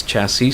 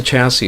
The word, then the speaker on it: chassis: For example, the word chassis. Okay, I think I've heard some Filipinos pronounce it as chassis. They're pronouncing the S there. It's actually a silent S at the end.